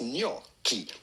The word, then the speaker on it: gnocchi: So, just replace those letters with a k, and it'll make a lot more sense. Gnocchi.